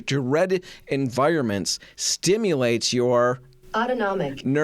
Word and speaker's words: autonomic: Autonomnomic? I'm going to Google it in a minute. Autonomic pronunciation.